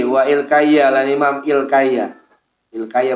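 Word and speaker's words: Ilkiya: Ilkaya bacanya, bukan wal kaya, wa Ilkaya.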